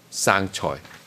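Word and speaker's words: 生菜: sure there is, Yeah, but, there it's actually means, the lettuce in Chinese, at least in Canada, is pronounced sang choi.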